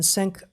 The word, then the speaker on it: Cenk: It's getting weird, and everyone except Tim Pool and Cenk, I think it's Ungar, isn't it? Cenk. So, yeah, that's spelled weird, and his Cenk.